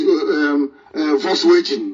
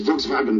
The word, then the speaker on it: Volkswagen: In Germanic language, W is pronounced as V, like the Volkswagen. Before I used to think it's Volkswagen. No, it's Volkswagen.